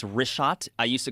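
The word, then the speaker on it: Richat: couple uh I just want to say it's rishot. I used to call it rickot. I was m mispronouncing it.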